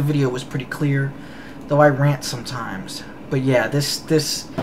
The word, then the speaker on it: Iran: can barely pronounce it no it's not iran it's iran just like it's not iraq it's iraq uh i know how to pronounce it and yes i know that iran is what used to